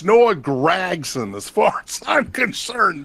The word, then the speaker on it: Gragson: in nasar well he's not really new Noah Gregson is what they say no it's Noah gragson as far as I'm concerned man will Gregson